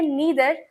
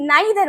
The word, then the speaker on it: neither: अगर हम नीदर बोलेंगे तो फिर हमें ईदर बोलना पड़ेगा, लेकिन अगर हम नाइदर बोलेंगे तो फिर हम आइदर बोलेंगे। और ये दोनों ही प्रोनाउंसिएशन क्या है इंग्लिश में वैलिड होती है।